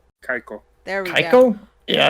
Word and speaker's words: Kaiko: It's an ARPG developed by, is it Kakao? Kaiko.